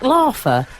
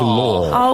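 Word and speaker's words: Laugher: Is it Chris Mears and is it Jack Larfer? Well, I think it's pronounced Law.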